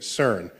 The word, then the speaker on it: CERN: of the CERN collaboration so CERN is how you pronounce the word which I think in